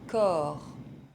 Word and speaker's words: corps: Le respect, un doigt, le poids, le corps, le temps. As you can see, most final consonants are silent in French, so you can remember the non-silent final consonants with the word careful.